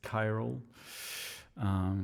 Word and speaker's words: Chiral: i saw someone asking how you pronounce the name of the synth and it's it's chiral unless that wasn't already